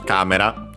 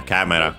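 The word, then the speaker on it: カメラ: First and foremost, we have, of course, camera, as usual, our camera. Should be accented. Yes, it's accented on the first syllable.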